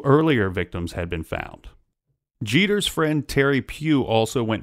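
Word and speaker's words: Geter: area this was just Jeter what's that it's pronounced Jeter oh thank you just like dere dere Jeter but spelled differently uh so so Jeter this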